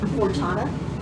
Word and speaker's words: Fortuna: Can you pronounce that one more time? A little slower. Fortuna.